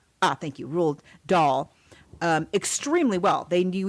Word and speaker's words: Roald Dahl: a while ago you know he he knew roll dot rule rule rule how do you say ah thank you ruled doll um extremely well they knew each other they